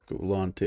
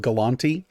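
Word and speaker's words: Gulanti: How would you spell that? G-U-L-A-N-T-I. Galanti.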